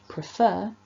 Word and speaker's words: prefer: the strongest syllable but if we look at that fourth word prefer you'll see that that mark has moved and it's now after the first syllable before the f and that tells us